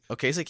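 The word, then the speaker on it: Ocasek: how do you say his last name okas okasik he produced The Blue Album yes and I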